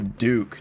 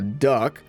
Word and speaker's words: Duc: this one is the Duke now I commonly mispronounced this as the duck since its D you see and I don't know why but in my mind that sounds like duck but this Jacob is